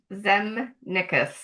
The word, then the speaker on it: Zemnickis: Um, but my name is pronounced Zen Nichas. Zenick.